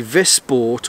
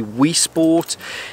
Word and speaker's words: Wisport: It I it's it's spelled with a W at the beginning. So my mandes tongue wants to say Wii Sport.